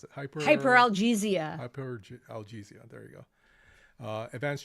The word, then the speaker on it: hyperalgesia: How do you pronounce it? Hyperalgesia.